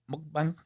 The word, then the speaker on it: mukbang: could do some like uh was it mukb mukbang? Mukbang.